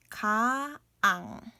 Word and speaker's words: 강: Ka plus ang, ng, kaang.